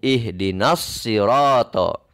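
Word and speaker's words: اهدنا الصراط: tarif ada Hamzah washol ini adalah Hamzah washol maka dibacanya Karena ini dibaca ketika dibaca disambung ihdinas sirotol Alif dan hamzahnya pun lebur tidak tampak ihdinas sirotol mustaqim sirotol mustaqim hamzahnya hilang ihdinas sirotol mustaqim sirotol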